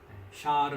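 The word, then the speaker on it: שער: 거라는 8100 79번 입니다 발음은 샤를 나온다 뭐라구요 샬 샤르 라고 합니다 그래서 et 라와 히브리어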